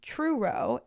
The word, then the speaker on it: Truro: first-class Airman Robert was assigned to the North Truro Air Force Station in Cape Cod Massachusetts I